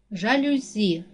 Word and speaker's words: жалюзі: падає на другий склад жалюзі наголос падає на третій склад кидати наголос падає на